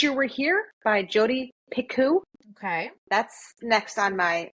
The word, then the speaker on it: Picoult: And then It's pronounced yes. Picoult.